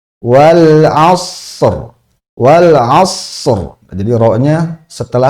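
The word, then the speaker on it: والعصر: Nah, huruf ro sukun ini cara bacanya adalah sempurnakan dulu ee huruf shad sukunnya. Shad sukunnya ini sempurnakan dengan hamsnya karena punya hams juga. Wal as wal as. Nah, setelah itu baru ro. Wal asr.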